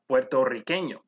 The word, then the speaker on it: puertorriqueño: The second time where you would roll your R's is whenever you say a double R. For example, this occurs in the Spanish word for Puerto Rican, which is puertorriqueño.